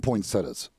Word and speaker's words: poinsettia: I call them poinsettias. Yeah, I mean, I've heard both. But I don't know what the I don't know if there is an official correct pronunciation or if both are acceptable pronunciations of it. But I don't throw the E in there. I just go straight poinsettia.